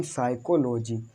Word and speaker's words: psychology: जब एस से पहले पी है तो पी है तो पी को साइलेंट रखेंगे, इसको चुप रहने दो,